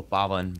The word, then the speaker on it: Paavan: like if it's like if they're like gujarati sometimes they'll say like oh bobbin but sometimes baldwin is like the one that i hear the most yeah because that's just